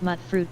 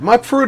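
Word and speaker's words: Mutfruit: of mut fruit here is it mut fruit or M mute fruit cuz I've heard people say it both ways vaultgirl 145 said mute fruit yeah that's that's why I thought it should be pronounced like vaal girl 145 said stands for mutated fruit I believe Avalanche multi media said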